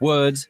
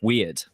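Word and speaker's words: Wyrd: your screen and yes that is how you pronounce it it's web of words not web of weird uh hi you trespass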